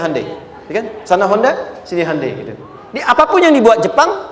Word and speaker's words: Hyundai: bikin Honda sini Handai hyundaikan dibacanya Handai sana apapun yang dibuat